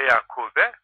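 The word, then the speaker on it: يعقوب: O zaman ötürü okunmaz, üstün okunur ve Yakube.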